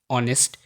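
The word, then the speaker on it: honest: এই শব্দগুলোর এইচ সবসময় সাইলেন্ট, যেমন gotu, গোস্ট, air, honour, অনেস্ট।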